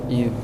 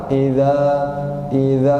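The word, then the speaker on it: إذا: Idza. Ketika diucapkan harus keluar suaranya. Ya Pak. Iza. Jangan gini Pak. Iza nggak jelas.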